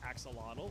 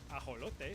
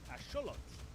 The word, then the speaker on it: axolotl: You've probably been saying this as axolotl or ajolote from my Spanish speakers, but it actually comes from the Nahuatl language. So it would be correctly pronounced as axolotl.